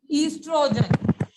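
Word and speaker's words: oestrogen: The spelling of the estrogen starts from the O, but the pronunciation is estrogen.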